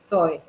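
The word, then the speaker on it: ζωή: acento la i yo e con z y acento en la e que es un nombre también que que solemos que se suele utilizar para nenas sí Zoe no solemos decir soe los griegos tenían estas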